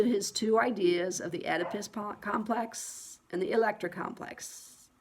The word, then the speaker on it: Oedipus: It starts with an O, but it's pronounced Oedipus.